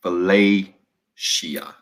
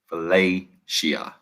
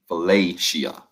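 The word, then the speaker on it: philautia: seven love number seven is filet shia fillet shia p h i l a u t i a i'm gonna spell it again fellatio p h i l a u t is not what y'all think p h i l a u it ain't fellatio that's not what i said i know my instagram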